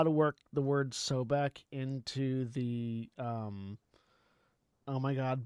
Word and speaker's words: Sobek: You gotta say Sobek like Becky, and then it works.